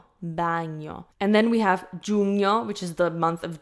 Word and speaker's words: giugno: This word might be confusing to read because we have G-I-U, which could look like you. So it's giugno, giugno, giugno. So it's a little bit weird to look at, but that's how it's pronounced.